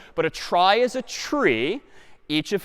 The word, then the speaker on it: trie: be a gotcha a try is sort of a fancier tree and it's short for retrieval but pronounced try for weird historical reasons but a try is a tree each